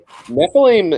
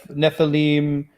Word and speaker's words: Nephilim: s for us and it's pronounced IM like cherubim and Ne Nephilim Elohim you know yeah